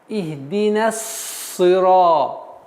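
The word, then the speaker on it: اهدنا الصراط: Применяя это правило, у нас получается ихди нас. Сразу переходим на удвоение буквы сад. Завершаем произношение нун мягким произношением ихди на, а потом на букву сад. Ихди нас сира.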